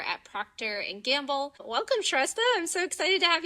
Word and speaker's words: Shrestha: This is Shesta. She is an analytics and insights manager at Proctor and Gamble. Welcome Shesta.